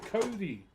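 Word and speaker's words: kauri: This is Kodi. K A U R I but you know pronounced like the name.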